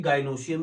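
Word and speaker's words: gynoecium: Spelling इसकी भी गाइनोशियम ही है, लेकिन जरा इसकी प्रोनाउंसिएशन में थोड़ा सा है कि एक एंड्रोशियम और दूसरा गाइनेशियम।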